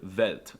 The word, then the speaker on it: Welt: For some reason, they pronounce the W's with a V sound, like in the word Welt, and they pronounce the V's with an F sound, like in the word Vermögenszuordnungszustandigkeitsübertragungsverordnung.